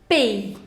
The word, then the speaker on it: paye: Now, je paye, tu payes, il paye, elle paye, on paye.